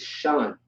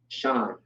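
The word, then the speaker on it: שן: All right, now we have, this is Shun, right? Not Shan, it's Shun. You have the Sh and the Na, Shun, okay?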